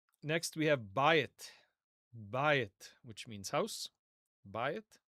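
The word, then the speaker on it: בַּיִת: Next we have bayit.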